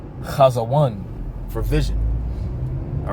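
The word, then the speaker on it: חזון: All right, so that word in the Hebrew is pronounced chazawan for vision.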